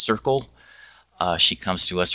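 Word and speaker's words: CERCLL: in culture language and literacy the acronym is pronounced Circle uh she comes to us from the University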